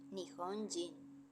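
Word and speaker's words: 日本人: lectura japonesa por ejemplo el kanji de persona tiene como lectura kunyomi hito su pronunciación cambia a jin con la lectura unomi entonces persona japonesa o de nacionalidad japonesa se lee nihon jin en japonés se utilizan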